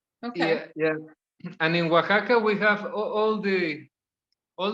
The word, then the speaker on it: Oaxaca: a lot of places there nice places so it's spelled uh h-u-a -co um o a x a CEO yeah Oaxaca the a a at the end with an X yeah oh wait Oaxaca okay yeah okay okay I love the mountains